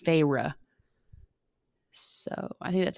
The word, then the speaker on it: Feyre: someone please tell me, but it's spelled Feyre, but in the book she says it's pronounced Feyre, so I think that's how it's said.